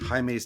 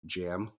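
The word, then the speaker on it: Jaime: it was so annoying because the guy kept pronouncing it as like jam not even Jamie he was like jam Rees I was like no it's Hae H can hear yeah it's it's it's really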